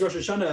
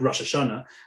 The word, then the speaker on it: Rosh Hashana: We'll use the what's called the Ashkenazic pronunciation. So we'll say something like Rosh Hashana, which is grammatically a